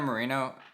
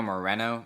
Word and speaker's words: Moreno: So yeah, and Chino Marino, that's not how you say his name, is it? Let me see. Chino Moreno. Marino. Moreno.